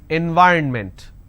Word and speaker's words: environment: And the mistake that you end up doing is you end up pronouncing environment. Now this is wrong. It's not environment, it is environment.